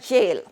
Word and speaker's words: gaol: at that word jail G a o L that's pronounced as jail now that is why English sometimes it is difficult to pronounce the words correctly because the same letter can be pronounced differently this sounds just like Jil and it means the same but it is written has gaol this is the old